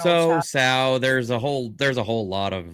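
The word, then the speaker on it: Tso: So is pronounced Chow, says Roots Calhoun. Instead of General So, it's General Chow.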